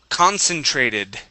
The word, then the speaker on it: concentrated: okay very nice uh this word here is concentrated concentrated concentrated there you go nice okay let's